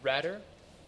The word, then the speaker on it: Ratter: So, Rder, pronounced like a rat, is about a young